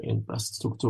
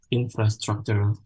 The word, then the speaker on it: infrastructure: But as Indonesian, we tend, because we pronounce it in bahasa as infrastructure, sometimes we tend to pronounce it infrastructure rather than infrastructure. But it should be pronounced infrastructure, especially when we are speaking in English.